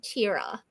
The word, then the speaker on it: Tara: Long story short, I was named Tara, but I've never been called that. Everyone calls me Tira.